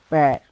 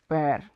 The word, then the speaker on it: père: So if we wanna say father in French, so we will say père, père, Pere, père.